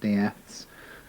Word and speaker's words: Death: furniture removal firm called Daths which was actually spelled death but always pronounced Daths very well established chunks of company.